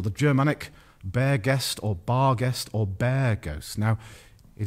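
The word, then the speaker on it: barghest: sniff horrific Lee uh-huh they actually pronounced it guest back in the olden days and bar guest comes from out the old saying town ghost or the Germanic bear guest or bar guest or bear ghosts now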